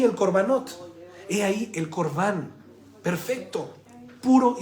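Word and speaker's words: korban: es muy importante la palabra correcta para poder pronunciar es corbán significa ofrenda o sacrificio acercado por lo tanto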